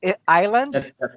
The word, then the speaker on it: island: internet caffeine this one Islander yes Iceland yes no it's not I slit the S you do not pronounce the S so it's island yes yes yes so